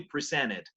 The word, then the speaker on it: presented: Americans also say presented, sometimes if they speak slowly, but usually presented. Presented. La T no suena prácticamente, ¿no? Pero noten, como termina en T, sí suena la E, ¿ok?